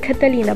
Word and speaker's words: Catalina: point my name well my name is pronounced Catalina but I cannot expect everyone to say it correctly and yes it's